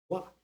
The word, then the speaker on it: は: daqui não é o wa, é o ha. Em japonês, H tem som de R forte. Mas quando é usado como partícula, a pronúncia é o wa.